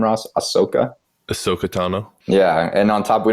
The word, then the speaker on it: Ahsoka Tano: name how do you say her name Ross ahsoka ahsoka tano yeah and on top we don't even know